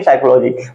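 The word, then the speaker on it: psychology: pneumonia इसको क्या पढ़ेंगे साइकोलॉजी बस इसमें आपको य ध्यान देना है की प के बाद एन या प के बाद एस आना चाहिए ठीक है और वर्ड और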